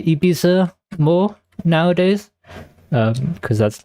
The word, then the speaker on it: Ibiza: I'm trying I think I will try to say Ibiza more nowadays. Um cuz that's like the correct pronunciation as far as I'm aware. Um but like the way us British people pronounce it is Ibisa.